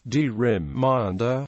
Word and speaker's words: gerrymander: Since the letter G of the eponymous Gerry is pronounced, as in go, the word gerrymander was originally pronounced rymander. However, pronunciation as gerrymander with a d, as in gentle, has become the accepted pronunciation.